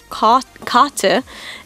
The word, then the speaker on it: Karte: If you pronounce it the German way, kate, it means card just in German, but in Japanese, the German word karate, so kate, actually means."